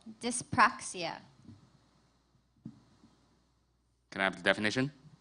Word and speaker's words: dyspraxia: Your word is dyspraxia. Dyspraxia? Dyspraxia. Dyspraxia or dysbraxia? Dyspraxia.